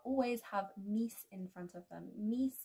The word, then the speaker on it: mis: Now, months usually, but not always, have mis in front of them.